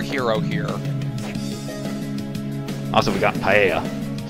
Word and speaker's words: paella: here also we got paella i don't know if that's how you pronounce it but because of its uh if it's hispanic which i'm pretty sure it is paella would be correct i'll take your